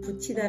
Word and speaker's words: 붙이다: 많이 운동에서 사용하고 있는 붙이다 라는 단어에 대해서 알아보도록 하겠습니다 부치 랑 붙이 당 발음이 똑같습니다 그렇지만 첫번째 붙이다 이는